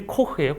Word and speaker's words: Koch: 그 다음에 crick and coach crick and coach 이 원래 그 KOCH라고 하면 아마 독일 사람일 것 같은데 그러면 원래 이름이 코흐예요. 코흐. CH 발음이 크 발음나니까 코흐일 겁니다.